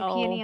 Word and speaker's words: peony: I say peie instead of peony.